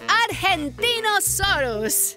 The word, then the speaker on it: Argentinosaurus: the Argentinosaurus.